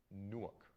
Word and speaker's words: Newark: Newark, not New York.